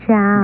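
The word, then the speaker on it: ciao: Every time he turned around, someone was saying chow, chow. Baby, that wasn't chow, C-H-O-W. It's spelled C-I-A-O. In Italian, that means goodbye.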